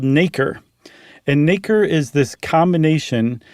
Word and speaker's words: nacre: sand or that parasite or whatever is called nacre.